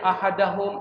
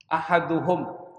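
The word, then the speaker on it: أحدهم: Enggak boleh bacanya ahadahum ahadihim. Enggak boleh. Kalau orang ngerti nahu ente disalahin. Salah baca. Ahaduhum.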